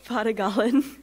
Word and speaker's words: Padogalan: Her student being honored tonight is Padogalan. Did I say that correctly? Kind of. Pronounce it for me. Padogalan. Padogalan. Padogalan. Did it better? Yes.